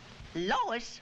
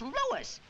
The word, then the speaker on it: Louis: at the plant Lois Lois me name is Lis not Lois J whiz everybody in toates me name wrong it's Lis l o u i s Lois uh Louise Lucy